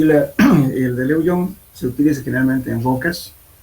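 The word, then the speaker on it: Lugeon: Y el método de Lejeune, L-O-G-N-C, Lejeune se escribe, pero se lee Lejeune.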